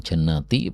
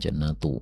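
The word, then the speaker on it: جنّاتِ: Nah, di sini diperhatikan jannati bukan jannatu ya.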